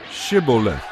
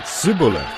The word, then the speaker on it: Shibboleth: if the man said they would tell him to say Shibboleth if he was from ephraim he would say sibilant because people from ephraim cannot pronounce the word correctly then they would take